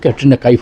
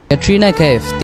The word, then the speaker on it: ক্যাটরিনা কাইফ: ফেলাই যে ক্যাটরিনা কাইফ কিন্তু উচ্চারণটা কিন্তু ক্যাটরিনা কাইফ হবে না তার শুদ্ধ উচ্চারণটা হবে ক্যাটরিনা কাইফ ক্যাটরিনা কাইফ দেখছেন কি